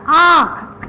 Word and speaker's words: आँख: जैसे आ में अगर हमने चंद्र बिंदु लगा दिया और ख लिख दिया तो इसका उच्चारण हो गया आँख, यानी कि मुख और नाक से ही हमारा वह उच्चारण निकलता है।